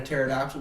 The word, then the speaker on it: pterodactyl: You know what it sounds like when a pterodactyl goes to the bathroom? What? Nothing. The P is silent.